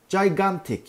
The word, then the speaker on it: gigantic: Burada iki tane G harfi var ama bu kelimenin doğru telaffuzu gigantic. Gigantic. Biri C, biri G.